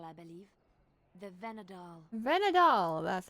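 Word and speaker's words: Vhenadahl: tree of people I believe the venad dool venad dool that's how you pronounce it pretty tree how do you even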